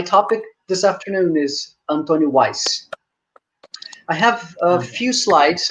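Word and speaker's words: Houaiss: his name please not how wise how ways i mean simply weiss uh this is a name of lebanese origin and it should be pronounced in portuguese simply weiss okay antonio weiss uh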